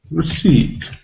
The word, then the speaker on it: receipt: just be spelled like receipt received so in the real spelling we've got quite complicated uh things here we've got the digraph e i we've got the first letter e which is not pronounced we've got p which